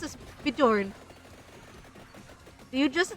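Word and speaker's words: Björn: were good at English why are you pronouncing Bjorn as Bjorn CU it's born okay it's like it's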